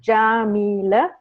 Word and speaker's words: Yamile: Oh more people so my name is jamila that's how you pronounce it I guess all of you wondered about that except for Louise she already knows but um it's jameelah and the last name